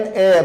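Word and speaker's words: heir: एन एयर, उत्तराधिकारी वारिस, H silent है।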